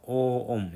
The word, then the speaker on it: 옴: 읽을 때는 오음이라고 읽습니다. 오음. 옴보다 오옴 약간 장음이죠. 그러니까 오음.